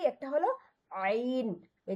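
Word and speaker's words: عين: এই যে আইন, এখানে সবচেয়ে কঠিন এটা, মানে মাখরাজ আরবি 29টা হরফের মাঝে সবচেয়ে কঠিন হলো এই যে আইনটা। এটা কি, এই ট্রিকটা হলো যে গলা চেপে বলার চেষ্টা করেন যে আয় আর সুদন্ত না আইন।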